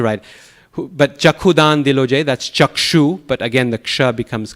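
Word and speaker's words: chakṣu: So in Guru Puja, should we use chakhu or chakshu? Chakshudan dilo. Since Bengalis may say it as chakhu. Yes. So technically, a Bengali song we should pronounce like Bengalis.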